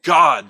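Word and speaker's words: גד: That is without dispute pronounced God.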